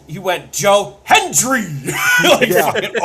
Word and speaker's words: Hendry: Michael Cole has taken to overpronouncing the D in Hendry's name because he could not fucking pronounce it for a calendar year. He would call him Joe Henry every single goddamn time.